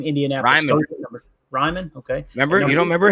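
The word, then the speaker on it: Raimann: Ryman, okay.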